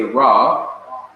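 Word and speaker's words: רע: is translated as good raw cuz the iron of the end is not pronounced in English so you say raw that means evil the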